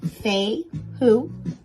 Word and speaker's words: Fehu: Fehu is pronounced Fehu.